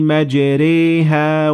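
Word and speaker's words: مَجْرَاهَا: and in this case you will do what we call imala, which is not fully pronouncing the alif, and it would sound like that. Bismillahi majriha wa mursaha.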